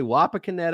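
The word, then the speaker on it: Wapakoneta: how to pronounce that waa canetta let's say wa caneta Ohio this is a particular yeah that's it there you go particularly dangerous situation tornado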